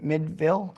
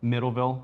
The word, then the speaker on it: Middleville: Whites Water Heaters was here in Mid Midville. Middleville.